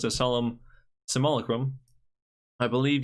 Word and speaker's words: Simulacrum: When Solemn Simulacrum enters the battlefield, you may also, it's been pronounced as Solemn Simulacrum. I believe you do want to pronounce the U in Simulacrum, but that's just me.